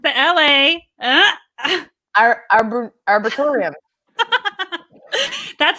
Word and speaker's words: Arboretum: So it's the LA Arboretum. That's not it. Okay, so you said arbitorium.